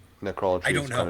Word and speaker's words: necrolatry: I've been pronouncing this name wrong for many years because of the abhorrent song, vulgar. I've been calling it necrolatry because that's the way he says it in the song.